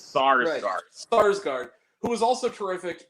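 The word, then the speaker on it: Skarsgård: Peter SAR Skarsgard I believe is how you pronounce itard scard who stargard it's sarsgard sarsgard who was also terrific in one of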